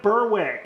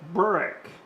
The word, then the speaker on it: Berwick: bigger than berwick but i keep saying berwick and it's brick robert needs to teach me how to say it writing break not berwick berlick that's all the locals say it's something like that brick and then robert we